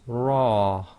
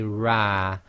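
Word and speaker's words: ر: So the letter ra with a fatha is pronounced ra. You cannot say ra, and you would hear this in the word rub. Rub. You cannot say my rab, you say my rub.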